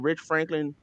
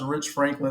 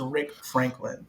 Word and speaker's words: Rich Franklin: Anderson Silva's typology and I didn't know how to pronounce Rich Franklin so I thought it was Rick Franklin and it sounds likei